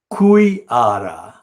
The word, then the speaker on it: Khoodeelaar: When I formed the children's group in the village on the east bank of the river Khoodeelaar, that is giving the Siloti pronunciation to what is also known as Kushiara river, that flows as an